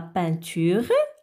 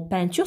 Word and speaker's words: peinture: Et dans le mot peinture, ça s'écrit avec 3 lettres. Ah bon? Alors, c'est déjà E-I se prononce E. Alors, on ajoute le N. Alors, ça devient 1.